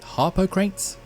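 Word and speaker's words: Harpocrates: of the game to visit a character named Harper crates that's how you pronounce it that's how you spell it Anyway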